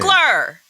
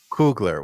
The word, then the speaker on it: Coogler: How do you pronounce his last name? Cougler. Cougler.